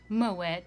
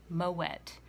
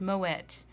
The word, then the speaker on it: Moët: with the wine Fox with me today is moet and Chandon champagne now I would like to make something perfectly clear this is pronounced moet and the reason for that is the champagne